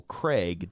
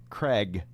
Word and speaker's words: Craig: us to hear cuz he says that over there they pronounce Daniel Craig differently that Americans pronounce it as if it rhymes with egg.